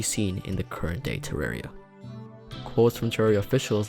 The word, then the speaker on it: Terraria: Rey like r-a-y for Terraria for it's based off the word terrarium which is pronounced with a re sound The Holy Hand Grenade